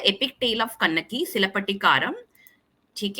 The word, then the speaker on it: Cilappatikaram: बात करेंगे तो जो टाइटल है जिसका जिसको प्रोनाउंस किया जाता है सिलपटिकारम।